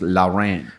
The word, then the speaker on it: Lawren: w r e in so law Ren okay not boring so you should put the little thing and it would be two syllables Lao ran well and also too